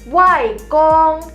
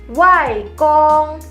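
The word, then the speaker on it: 外公: Kalau kakek dari sisi ibu, kita panggilnya wai kong. Wai kong. Wai kong artinya kakek, tapi dari sisi ibu. Papanya mama, kita panggilnya wai kong.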